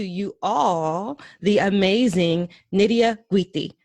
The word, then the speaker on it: Guity: And it warms my heart to introduce to you all the amazing Nydia Guity. Did I pronounce your last name right? Yes, you did. I love when I hear people pronounce Guity correctly.